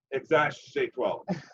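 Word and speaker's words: X Æ A-12: So the pronunciation goes like this: X like the letter, AE is pronounced ash, and then your standard A-12 as in X-A-12. Duh. Exact A-12.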